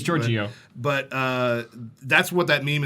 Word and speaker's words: Giorgio: don't even know how to pronounce his name. It's Giorgio.